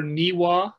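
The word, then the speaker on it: Niwot: legend of uh chief nye watts or niwa is that what you is that how it's um the ui is the more correct uh pronunciation as i understand it from uh from a native speaker yeah she was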